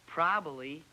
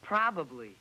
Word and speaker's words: probably: what did I do you changed the second B to an L it's not probably it's probably and if you added